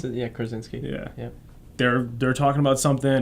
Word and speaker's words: Krasinski: Krasinski.